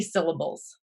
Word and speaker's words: syllable: You hear how the accent is on syll, not able.